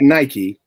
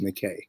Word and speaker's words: Nike: Yeah, and that's not Nike, it's Nikkei. It's pronounced Nikkei.